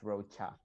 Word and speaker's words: Rocha: character something like that it's pronounced like a hard K but it's Roa oh okay interesting you